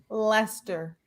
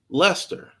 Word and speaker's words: Leicester: Leicester. Leicester.